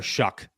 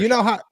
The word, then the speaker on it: Shough: Yeah, I hope everybody does the same with Tyler Shough.